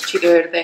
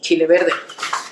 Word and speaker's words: chile verde: I'm Northern Mexican, so I should pronounce chile verde how it needs to be pronounced by a Northern Mexican proper, which is chile verde. A little bit even faster, chile verde, like that.